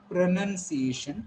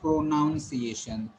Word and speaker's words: pronunciation: You are going to call it pronunciation and not pronunciation. There is no pro, there is no noun.